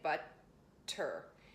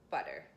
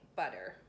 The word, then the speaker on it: butter: We don't say but-tur and in some languages obviously the double T's pronounced, but not in English. So again, I briefly touched the roof of my mouth with the tip of my tongue, butter. it's so brief it's almost as though I didn't say it.